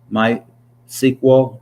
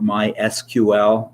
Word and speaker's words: MySQL: servers the most common is is my um my sequel or MySQL it's pronounced both ways and uh uh the code